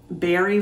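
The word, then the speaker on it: Barre: i went over by barry vermont b-a-r-r-e i believe is how you pronounce it and in the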